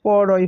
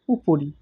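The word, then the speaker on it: 'পরি: যেমন পরি শব্দ পর হসি পরি তার ঠিক আগে যদি একটা উর্ধকমা বসিয়ে দেওয়া হয় তাহলে সেটির উচ্চারণ হয় উপরি। আমরা পরি হিসেবে উচ্চারণ অবশ্যই করতে পারি। কিন্তু সেটা আসলে কথাটি উপরি যেমন বসি ফুলের আসন পরি এখানে বলা হয়েছে।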